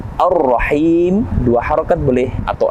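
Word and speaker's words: الرحيم: Kita temukan kembali Ar-Rahim. Alif lam bertemu dengan huruf ra, yang mana alif lam di sini kita tidak membacanya, tapi langsung masuk kepada huruf ra. Alif lam syamsiyah.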